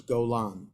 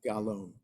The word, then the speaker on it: Golan: note the way it's supposed supposed to be pronounced as Golan Not Gon okay atan M so the Gite families from the Levites from the half the tribe of manasha they got the Refuge city of G Golan in the in the Bashan and its land